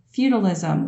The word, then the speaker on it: feudalism: learning about called feudalism feudalism like say remember the show family feud feudalism that's how you pronounce that word I just want you